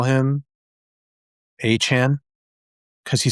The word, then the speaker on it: Achane: I I Bro, he he literally said, "My name is pronounced Achane." And I'm like, all right, bro. So, Achane, by the way, not Achane.